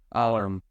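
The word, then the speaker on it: Allar: Very curious to see the progress that Drew, is it Alar or Alar? People pronounce it differently. Aller. Okay, we'll go with that.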